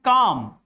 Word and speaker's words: calm: In calm, L is before M.